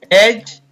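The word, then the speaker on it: edge: और हमने इस वीडियो में देखा कि कुछ शब्दों में डी के तुरंत बाद अगर जी आता है तो हम डी का उच्चारण नहीं करते हैं।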